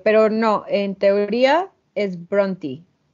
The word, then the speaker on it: Brontë: es un misterio pero no en teoría es bronti o sea como si fuera una y al